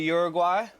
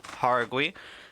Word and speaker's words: Jauregui: Ketlin Souza versus Yasmin Jauregui, I believe they're pronouncing it. I've always known it to be Uruguay, but, you know, I maybe we were all wrong the whole time. It's Jauregui.